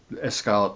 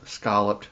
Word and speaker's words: scalloped: potatoes au gratin or escalloped potatoes. Scalloped. I know you're not supposed to pronounce the E, but I always slip up and do.